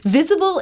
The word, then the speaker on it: V15ABLE: was really meaningful so it's spelled v15 a b l e and uh I always say that's not a typo that is a 15 in the middle of the name and that's because we